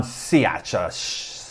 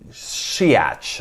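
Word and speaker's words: Shaich: chairman of panera bread ron siacha i always get that wrong shiats i think how you say it i asked him i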